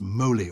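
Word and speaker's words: MoLI: Museum of literature Ireland which they pronounce Molly or Molly maybe it said Molly because it echoes Molly Bloom because James Joyce is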